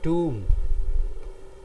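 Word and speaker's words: tomb: कब्र को इंग्लिश में कहते हैं, क्या कहते हैं इसको, कहते हैं टूम, इसमें बी साइलेंट है.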